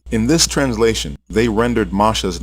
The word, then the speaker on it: Moshe: It is pure Hebrew, and the correct pronunciation is Masha.